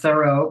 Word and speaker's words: Thoele: Yeah, I was gonna say it was pronounced Thoreau, but I wasn't sure. So yeah, well, and my husband's father was French, and they don't pronounce it Thoreau there. But my husband was a philosopher, and he wanted it like Henry David.